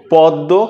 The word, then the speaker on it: পদ্ম: গৃশ্য অর্থাৎ এখানে ম ফালার উচ্চারণটা নাই। এখানে আবার খেয়াল করে দেখেন পদ্য পদ্ব কিন্তু অনেকে আমরা পদ্ম বলি।